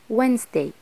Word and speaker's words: Wednesday: Wednesday لازم ناخد بالنا هنا ان letter D مش بننطق الصوت بتاعه خالص، مش بننطقه، مش بنقول مثلا Wednesday، لا هي حرف silent فبنقول عليه Wednesday وبنختصره في 3 حروف W-E-D Wed.